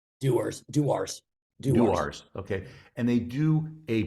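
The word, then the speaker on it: Dewar's: I thought it's how do you pronounce it? Is Duar? It's alcohol. It's Duars.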